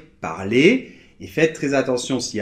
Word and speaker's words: parler: - Par contre, on sait que quand ça finit en -ER comme dans les verbes en -ER, là on ne le prononce pas ! - Bien sûr, parce que le E et le R forment un digramme qui est prononcé [e]. Et donc là, on n'entend pas de R, par exemple on va